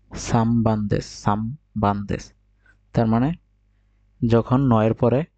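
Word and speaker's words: 三番: বুঝতে পারছেন, মানে নয়ের পরে যদি বাপ মা থাকে তাহলে এর উচ্চারণ হবে, নয়ের উচ্চারণ হবে ম।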